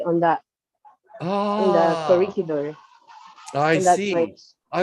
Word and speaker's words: Corregidor: corridor or not corregidor? Are you saying corridor? Corregidor. It's Corregidor. like a corregidor. It sounds like that.